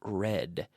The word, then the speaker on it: read: read read read read be careful with the pronunciation read you never stick your tongue out your tongue stays inside your mouth behind your teeth touching the roof of your mouth with this sound okay be careful this